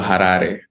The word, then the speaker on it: Harare: Like it's got a lot of Rs, but uh if you imagine the way you pronounce words in Japanese, it'sually it's it's literally quite similar. So, harare.